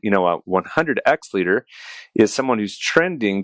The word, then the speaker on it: 100X: So your book here, The 100X Leader, or do you pronounce it internally in your head 100 times leader? No, I say 100X. You say X.